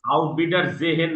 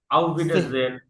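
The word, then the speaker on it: Auf Wiedersehen: আউট বিটার জেহেন না, আউট বিটার জেন, জেন, আউট আচ্ছা। বিটার জেন, আউট বিটার জেহেন। আর উচ্চারণ কিন্তু হবে না, হ্যাঁ মনে রাখবেন আচ্ছা, এটা।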